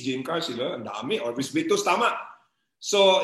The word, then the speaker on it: OrbixVictus: Yung X po is pronounced as letter S. S po. Kaya Orbis. Orbis. Yung V, Victus.